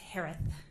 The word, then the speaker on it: Herath: name s-a-n-d-e-r-s-o-n last name is pronounced like Harris with a lisp it's herath h-e-r-a-t-h hi Shay hello